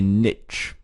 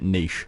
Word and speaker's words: niche: is to find a niche, okay? Or if you're in the UK, we tend to pronounce it niche, but I'll say niche, and then that'll keep our transatlantic friends happy as well.